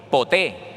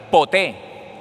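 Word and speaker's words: ποτέ: tiempo en en griego poté p o t e con acento en la e poté y significa en algún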